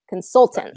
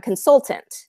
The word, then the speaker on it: consultant: in English we'd call we'd stress instead of the last syllable we stress consultant second syllable right we're I'm a consultant okay so there's a